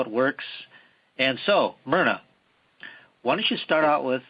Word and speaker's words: Myrna: More like Myrna, like Myrna Lloyd, the movie star, so it's Myrna, right.